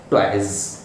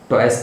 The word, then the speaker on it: toys: इसी तरीके से TOYS, टॉयज, टॉयस नहीं टॉयज, JOYS, जॉयज।